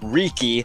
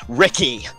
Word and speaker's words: Riki: His name is Riki, not Ricky.